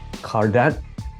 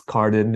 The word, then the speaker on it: Cardin: pronounced that properly yeah that was perfect I know that in English speaking worlds it's Carden and it's passable but I I'm trying